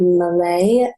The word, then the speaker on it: Malay: the show with us today we've got Lucy Malay and I hope I said that correctly just